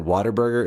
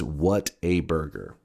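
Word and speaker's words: Whataburger: It's pronounced you you pronounce it water burger if you're from the south, but it's what a burger.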